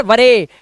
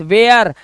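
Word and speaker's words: where: और इट्स नॉट वरे। इट्स वेयर एंड नॉट फरे। It's fair. क्लियर हुआ? और लास्ट में वरे ए क्यों नहीं कर रहे? क्योंकि लास्ट में वर्ड के लास्ट में इ आता है। तो दैट विल बी साइलेंट। वो साइलेंट होगा।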